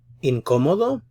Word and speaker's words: incómodo: Notice the accented syllable, so this is where you put the stress on this syllable here.